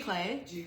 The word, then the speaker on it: giclée: Giclée. They're Giclée prints.